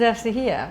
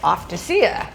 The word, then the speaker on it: Ευτυχία: Uh and your name is Estahia." But they didn't know how to pronounce my name. So it came out something like Offacea, which was sounded kind of pretty, but wasn't correct.